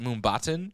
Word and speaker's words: Mumbattan: And there is a part in this movie where they go to, I believe they pronounce it Mumbattan, which is which is the Indian Spider-Man India. Is that a cross between Manhattan and Mumbai?